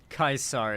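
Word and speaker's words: Caesar: troops you run across kaisar is how you're supposed to pronounce it okay um what lessons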